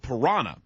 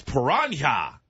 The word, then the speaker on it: piranha: And that's how everyone said it, except he insisted on doing what he said was the Spanish pronunciation. So he would say, "That's piranha." And everybody, Bill, no, you're stupid and old. Get out of the business. It's piranha.